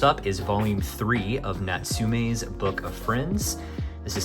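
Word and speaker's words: Natsume: Um, it is Natsum, not Natsumi.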